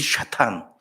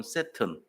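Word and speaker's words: שטן: 사탄의 이름이 뭔지 아세요 히브리말로 뭔지 아세요 좌탄 그럽니다 똑같은데 좀 달라요 발음이 좌탕 좌탕 그래요 좌탄 에이 샤탄 원래는 발음을 하면 샤타나요 이렇게 근데 헬라 말로 하면 샤타나 히브리 말로는 샤탄 그것도 핫한 사탄 영어로는 세튼 다 비슷해요 다 사탄이에요 아몬드 그래요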